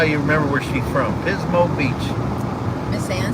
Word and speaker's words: Pismo: remembered Pismo Beach. Oh. That's right. Pismo rhymes with gizmo, and it's right there on the beach.